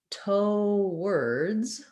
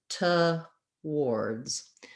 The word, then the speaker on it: toward: a one syllable pronunciation but some some people use two syllables and they either say toe words or to words so let's break those